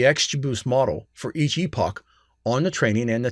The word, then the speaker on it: epoch: of the number of epochs over which no improvement is observed this is specified in the early stopping rounds parameter now the word i'm using here is epoc and it's spelled e